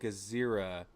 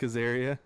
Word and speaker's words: Azaria: I think that the two candidates would be Jared Kizo and Frank Azera. How do you say his name? Azaria? Frank Azaria. Hank Azaria.